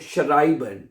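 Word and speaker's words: schreiben: शराइबन। ठीक है? गुड। तो इ आई जब इकट्ठा आएगा तो आई बन जाएगा।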